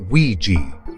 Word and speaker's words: Ouija: They are spelled Ouija but it's pronounced Ouiji.